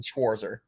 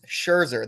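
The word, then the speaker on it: Scherzer: or you're genuinely saying schwarzer hi for everyone here oh I am I saying his name wrong it's Sherer there's no there's no W Sherer my bad no I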